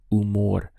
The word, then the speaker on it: humor: have buen followed by umore we start the pronunciation from here U because the H is silent so is I'm in